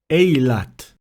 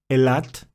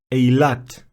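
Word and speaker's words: אילת: According to the Academy of the Hebrew Language, the first alternative is closer to the ancient pronunciation of tzere. We should say Elat, Zetim, and not Eilat, Zeitim.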